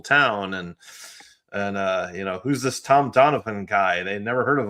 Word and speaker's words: Donovan: Donovan, the way they say it, it has a PH in the middle of it, I believe.